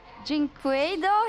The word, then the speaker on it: dyNquedo: Pain is about to play T1, and I've got dyNquedo here with me. Is that correct pronunciation?